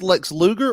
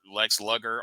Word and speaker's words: Lex Luger: But Now, but is before- this Lex Luger or Lex Luger? Because you remember on the Chiron, they promoted Lex Luger, and it was spelled like sugar with an L.